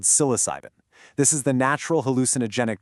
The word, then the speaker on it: psilocybin: It's pronounced psilocybin.